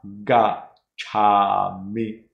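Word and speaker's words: gacchāmi: Sometimes you don't pronounce it, you know, fully. We want this a strong a gacchami.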